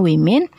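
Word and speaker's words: women: men berubaha menjadi e woman menjadi Win cara bacanya weimin ini adalah bentuk jamaknya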